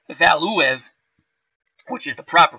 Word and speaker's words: Valuev: It's Valuev, which is the proper pronunciation, but during the fight I have to really concentrate on that.